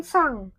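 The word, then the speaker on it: さん: Dalam bahasa Jepang, kalau ada huruf N, mati N sendiri di akhir kalimat, di akhir kata, itu dibacanya eng. Tulisan hiragananya sa-en, san, tapi dibaca eng, jadi sang.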